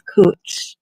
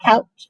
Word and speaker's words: Couch: Three native Indian knows it's cooch. It's not couch.